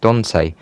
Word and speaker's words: Dante: the ccno had reached dante rhymes with ants virginia a tiny village